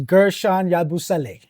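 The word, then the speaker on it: Guerschon Yabusele: I still can't pronounce it. It's Gershon Yabusele.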